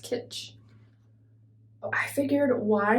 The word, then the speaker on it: Kitsch: This one is Satin by, I think it's Kitsch, pronounced Kitsch.